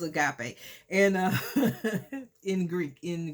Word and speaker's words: agape: a guy play love i call it a grape because i didn't pronounce the word right but the uh it was agape and uh in greek